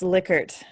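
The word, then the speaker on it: Likert: unit on the the leica scale for collective efficacy which is from one to five um but it's continuous yes he likes it pronounced lickert okay believe it or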